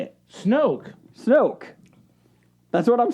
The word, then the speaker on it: Snoke: I'm saying Snook, and how do you say it? Snoke. Snoke. That's what I'm saying. You're saying Snook. Snook. Snoke. Snoke. Like rhymes with smoke?